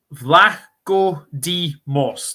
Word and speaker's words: Vlachodimos: Vlachodimos.